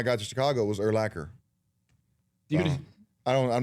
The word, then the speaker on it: Urlacher: All my uncles on the Urlacher side say Urlacher. But then when I got to Chicago, it was Urlacher. I'm not going to correct you when you say Urlacher or Urlacher. But it rhymes with linebacker.